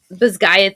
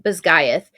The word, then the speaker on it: Basgiath: And the reporter was like, oh, I thought it was Basgiath. Basgiath. Yeah, That's how I was thinking. yeah, and the author was like, that's actually a more accurate Gaelic pronunciation.